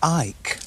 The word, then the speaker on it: Icke: It's actually David Icke. Icke? Yeah. Oh, look like Icke. You could pronounce it Icke. I-C-K-E.